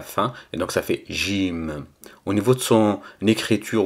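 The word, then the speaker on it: جيم: mime à la fin et donc ça fait gym au niveau de son écriture ou sa présentation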